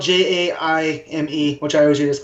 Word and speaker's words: Jaime: Is that how I'm pronouncing it? Yeah, Jaime. Jaime. You can call him Jamie.